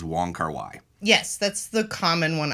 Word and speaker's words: Wong Kar-wai: his film since college the most common way i've heard it pronounced in among english speakers and among among american cinephiles is the way that we've we've been pronouncing it which is wong kar-wai yes that's the common